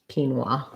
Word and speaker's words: quinoa: e here and kin wa the o a says the a w sound and an ah sound so first syllable stress so basically if you think about it like keen wah quinoa um yes quinoa all